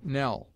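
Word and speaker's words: knell: s as in scene it is used before n as Nell not but totally loses its sound in modern pronunciation K is never doubled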